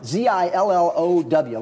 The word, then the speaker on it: Zillow: Zillow, like willow tree, but with a Z. Or like pillow with a Z.